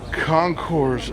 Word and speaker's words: Concours: We got the Chevelle Concourse Estate Wagon. You have to say it like that.